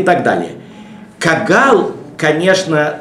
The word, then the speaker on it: кагал: Кагал, конечно, тут «г» – это русское произношение «г», кагал.